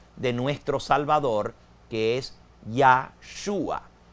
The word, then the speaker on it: Yeshua: nombre en hebreo de nuestro Salvador, que es Yhua. Y Yahhua literalmente quiere decir ya es Yahweeh. Yeshua es salvador.